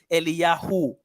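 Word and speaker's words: אליהו: Elijah in the Hebrew, it's Eliyahu. Yahu is a more accurate short pronunciation of the Tetragrammaton.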